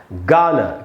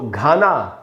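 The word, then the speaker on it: Ghana: यहाँ लिखा है दोस्तों गाना, इसको घाना नहीं पढ़ के हमको पढ़ना है गाना।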